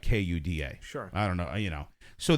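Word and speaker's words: куда: Well, in Russian, it looks nothing like Kuda. Sure. I don't know, So they will write a transliteration Kuda for an English, so that's pronounced kuda. But the IPA is something completely... It's like KOO.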